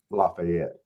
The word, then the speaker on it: Lafayette: Not. It's laet. No, it's Lafayette. Y'all need to get over yourselves. No, we ain't never calling it Lafayette, man. I'm always gonna call it Lafayette.